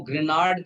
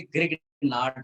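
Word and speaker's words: Grignard: वो ग्रेनार्ड करके भी इसको बोलते हैं, लेकिन हम लोग इंडियन स्टाइल में बोलेंगे ग्रिग्नार्ड रिएजेंट।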